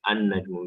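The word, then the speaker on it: النجم: we do it as an-najmu. We add alif lam, but since it's huruf shamsi, so alif lam will not be pronounced, so it will be as an-najmu.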